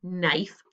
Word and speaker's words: knife: this one it's a silent k k n knife so this is a